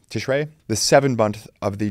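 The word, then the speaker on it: Tishrei: the Hebrew month of and I apologize for my mispronunciation here tishri I'm sorry tishray the seven month of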